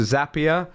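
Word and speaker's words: Zapier: platform got sold to zapia rhymes with happier I learned that just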